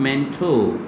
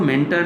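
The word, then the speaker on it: mentor: Please pronounce it मेंटो. इसको मेंटर ना कहें, मेंटोर भी ना कहें. This will be मेंटो.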